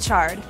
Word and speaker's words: chard: According to Merriam-Webster, chard is pronounced with a ch sound, like chocolate or choo-choo. But what exactly is chard?